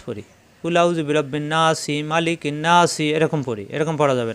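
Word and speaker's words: مَلِكِ: তাজদি অজিব গুন্না মালিকিন আমরা কিন্তু মালিকিন্ন নাসি এভাবে পড়ি এরকম পড়া যাবে না কারণ মা টান নাই মালিকিন হরকতের উচ্চারণ তাড়াতাড়ি এক জবর এক জরের এক পাশে হরত বলা হয় হরকতের উচ্চারণ তাড়াতাড়ি করতে কোন দেরি করা যাবে না তাহলে মালিকিন এই নুনে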